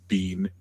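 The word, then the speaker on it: Biehn: his wife that it is indeed Bean. Yeah. Is it like B E? Yeah. Except Except not spelled that way at all. Yeah, except it's spelled bean.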